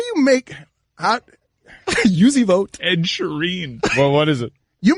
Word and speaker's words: Sheeran: How do you pronounce the last name? Sheeran. All right, Sheeran.